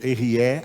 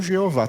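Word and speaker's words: Ehyeh: Então, o nome correto de Deus seria esse, como a forma correta de pronunciar seria essa, como ele mesmo pronunciou diante de Moisés. Diga, Erié. Não Jeová, tá vendo? Não tem nada a ver, Jeová.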